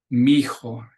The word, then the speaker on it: mijo: son, or mija, and they'll actually, when they're being cute, they'll just spell it M-I-J-A, skip the H and the other I, because that's how they pronounce it.